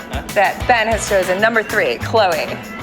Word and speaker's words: Khloe: Kylie or three Khloe does your favorite Kardashian rhyme with Zoey yes I got that Bannister's and number three Khloe right I don't know